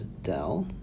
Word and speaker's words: del: This is a Greek symbol which we pronounce as del.